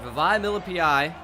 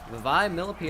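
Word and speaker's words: Vavae Malepeai: All right, Vavai Milipai. We've looked up how to actually say his name, as you guys know. Vavai Milipai.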